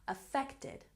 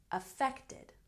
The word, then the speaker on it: affected: effect effect good and here again with three syllables for past tense affected affected good and here we have